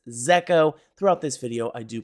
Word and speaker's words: Zeko: One thing I have to clarify is this project is technically pronounced Zeo. Throughout this video, I do pronounce it Ziko, mostly because it does rhyme with ZK.